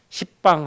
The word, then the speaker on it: 시방: 이걸 합쳐서 방이라 그러죠 시방 세계 이제 한자로 말하면 방인데 열 가지 방위 근데 그거를 이제 십방 하면 발음이 거세가 시방 이렇게 해서 시방이 부르는 거예요 그래서 동서 남북하나 그래요